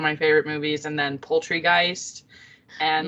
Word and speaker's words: Poultrygeist: favorite movies, and then Poultrygeist and like kind of the Killer Tomatoes. Wait, is it called Poultrygeist? Yeah, or not Poltergeist. Not Poltergeist, it's Poultry because it's based in a chicken shop.